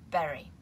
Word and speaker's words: bury: then we have to berry which is pronounced exactly like the berry la baka to bury